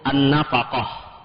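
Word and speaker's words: النفقة: dalam bahasa Arab sebenarnya dibacanya itu Pak dengan cara mengharokati semua hurufnya ya, yaitu an-nafaqah. Jadi kalau dalam bahasa Arab nafaqah, semua hurufnya ada harokat ya, tapi ketika masuk ke dalam kamus besar bahasa Indonesia, huruf fa-nya disukunkan.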